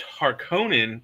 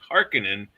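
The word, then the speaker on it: Harkonnen: Sorry, it's Harkonin they say in the movies, but it's Harkinin in his mind.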